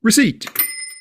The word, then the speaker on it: receipt: Don't say the P in receipt, cupboard, raspberry, coup.